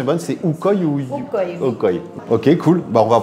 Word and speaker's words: Ukoy: Ma prononciation est bonne, c'est Ukoy ou Ukoy. Ukoy.